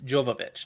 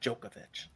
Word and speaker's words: Jovovich: wrong by the way it's Jovovich not jokovic I'm bad at names